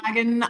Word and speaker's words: Ballylagan: Ballylagan, Ireland, Yeah. circa 2005. And Thank you, she audiobook, for the pronunciation.